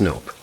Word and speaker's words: NOP: Pronounced nope. Sounds like Knop to me.